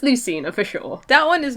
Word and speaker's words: Lucina: it said Lucina I said Lucina yeah it's Lucina for sure that one is known too well I guess to like pronounce wrong they says he's like Lucina he